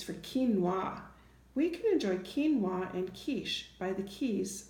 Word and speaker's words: quinoa: So instead of it being the qua sound like Q normally makes, it just makes the K sound in words like quinoa and quiche and keys and Cutter.